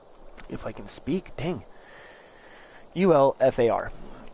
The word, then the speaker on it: Ulfar: It is pronounced Ulfar. Okay, and it is spelt U-L, if I can speak, dang, U-L-F-A-R, pronounced Ulfar.